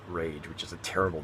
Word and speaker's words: Rage: main character actually here his name is rage is uh or it's actually ray g but they spell it r-a-g-e in the game so it's actually supposed to be rage which is a terrible